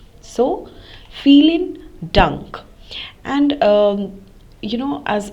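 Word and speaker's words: vielen Dank: thank you very much the v in feeling takes uh the pronunciation of f in English so the V takes the pronunciation has the sound of f so feeling dunk and um you know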